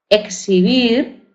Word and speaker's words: exhibir: Por ejemplo, tenemos examen entre vocales, examen, exhibir, ¿verdad? Exhibir. Esta H se considera muda, con lo cual sería intervocálico, y relax, ¿verdad?